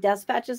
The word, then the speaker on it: despatches: See, I pronounce it Despatches now because it's the New Zealand British spelling.